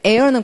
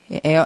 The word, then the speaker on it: heir: 그다음에 air는 공부하십시오. 에어, H 발음하지 않고 상속자라는 거.